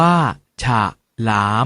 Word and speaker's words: ฉลาม: ว่า ถ้า ถนน แต่ ฉลาม ออก เสียง ว่า ฉาก หลาม ผม ขนน ออก เสียง